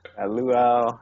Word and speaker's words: luau: Luau. Yeah, you got it. You got the pronunciation down.